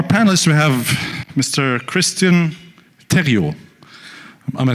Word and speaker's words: Thériault: Christian Thériault.